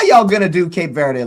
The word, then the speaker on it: Cape Verde: It's actually supposed to be pronounced like bird. So verd Cape Verde is actually how I've been told because then you say when it's cowboy.